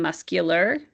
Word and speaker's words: muscular: Same with muscle and muscular. In muscle, we know the C is silent, but in muscular, you're hearing the sound of the C for muscular.